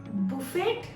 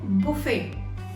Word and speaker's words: buffet: Buffet? No. We call it buffet. T is silent here.